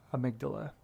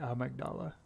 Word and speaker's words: Amygdala: to take a look pronunciation without the pause i think is stylish so amygdala but i think in game they stylistically say ah magdala okay thank you for